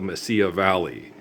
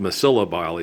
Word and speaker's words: Mesilla: Just, you know, you say, where I live, it's called the Mesilla Valley, but people call it the Mesilla Valley because they pronounce it wrong.